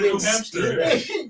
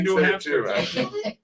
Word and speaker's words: New Hampshire: making fun of me last week of the New Hampshire thing. You know, I got You're still saying I'm it. Still saying it. I know. You have a hamster? Yeah, you got a New Hampster.